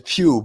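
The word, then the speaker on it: Pugh: and it's sap and she said puke one the guy's name is Pew p g I'm just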